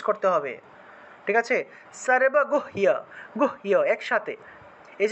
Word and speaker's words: গুহ্য: আপনারা অনেকেই যে গুহ ইয় এভাবে উচ্চারণ করলে হবে না, সর্ব গুহ ইয় এভাবে